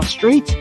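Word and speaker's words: Straith: So straight slate. So I'm kind of straight. My last name is Straight. It's spelled just like the word S R A I T H.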